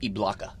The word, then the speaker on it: Ibaka: It's pronounced Ibaka.